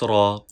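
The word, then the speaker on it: ر: From here we can pronounce ra. Ra. Ra. Ra. Ra. Ra. Remember, Ra has no dot on it. Ra, Ra. Please read with full sound, thick sound.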